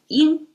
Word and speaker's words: 因: This means cause pronounced as in. So we Okay, I guess we can remember it as in and yan, right? Everybody knows that. And in yoga is y I N and same pronunciation flat tone in and that means